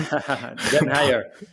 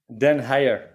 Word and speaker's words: den Heijer: I'm going to wait for him to pronounce his last Dutch name. Den Heijer. Say it again. Den Heijer. Den Heijer.